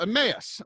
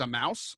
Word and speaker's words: Emmaus: miles from Jerusalem called Emmaus this is called the rock to the walk to Emmaus right and another pronunciation is a mouse so I just like